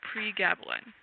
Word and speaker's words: pregabalin: The next question is, Which gabapentinoids do you prefer, gabapentin or pregabalin? Excuse my pronunciation if any of those are incorrect.